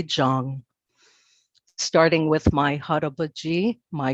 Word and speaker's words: Chang: my own last name most of my life I've been pronouncing my last name incorrectly come to find out it should be Zhang starting with my harobaji